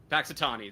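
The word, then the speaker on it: Punxsutawney: Paxitani.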